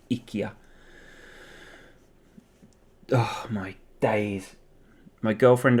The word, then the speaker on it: IKEA: or anything like that ikea or ikea the chronic correct pronunciation i think ikia oh my days my